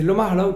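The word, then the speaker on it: Locmalo: Logmalo, en breton de Logmalo. Mais c'est Lomarlao quand même hein, qu'on prononce.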